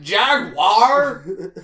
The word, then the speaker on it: jaguar: look at the word it says jaguar in the word and then we take it and say jaguar j a g w i r e it's not spelled like that then you realize wow